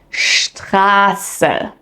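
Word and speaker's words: Straße: In German, when ST or SP appear at the beginning of a word or a syllable, they are pronounced with a sh sound.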